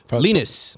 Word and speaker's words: Linus: uh lenus lanquist fromus lenus is how he pronounces his name um they're going to